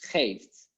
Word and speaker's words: geeft: How do you pronounce geeft? It's like with the g. So you need to use the throat.